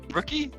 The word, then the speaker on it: Ruuky: and a little bit about I'm going to mispronounce it rookie rookie yeah that's absolutely correct yes so yeah my